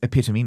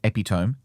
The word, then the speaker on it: epitome: Um, which I corrected him on, but people have pointed out that it is epitome, not epiome, as he said.